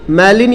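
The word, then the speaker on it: malign: बहुत अच्छे वर्ड हैं ये, मैलिन यहाँ पे जी साइलेंट है। जिस प्रकार आपका शाइन में जी साइलेंट होता है, ये देखिए साइन में साइलेंट है, बट जैसे ही आप सिग्नेचर बोलते हैं तो फिर से जी जो है वो लाउड हो जाता है।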